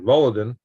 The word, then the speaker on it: Volodin: Now this is when somebody's trying to hit me the pronunciation. Volodin.